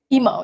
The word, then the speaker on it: Emo: and who doesn't love is it pronounced emo? Emo, yeah. Emo.